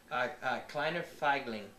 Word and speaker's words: Kleiner Feigling: How do you pronounce this? Figli? Kleiner Feigling.